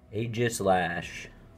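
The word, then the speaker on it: Aegislash: okay first pack of course look at that aegis lash that's how you say it it's beautiful and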